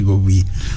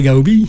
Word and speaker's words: Gaubi: J'ai le plaisir de recevoir aujourd'hui monsieur Gaubi prononcé à la catalane. Monsieur Gobi. Gobi ou Gaubi ? Comment on prononce ? Ben moi, je préférerais Gaubi.